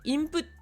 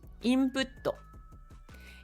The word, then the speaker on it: インプット: d'accord mais plus petit ça veut dire que on le prononce pas on va doubler ce qu' a après et ce qui a après c'est un to donc imp comme si vous aviez le ok input on fait une petite